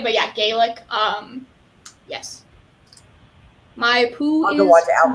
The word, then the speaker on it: Gaelic: whatever uh yes scott's scott's garlic i think is how they say it but yeah gaelic um yes my poo